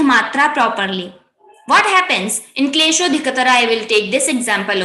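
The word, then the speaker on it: क्लेशोऽधिकतर: I will say, okay, there is no pronunciation of avagraha, so I will just say klesho dhikatara, shodhikata. I have not make it longer. So, sho itself is a dirgha matra and it should be having two kals, two kshanas, 2 seconds.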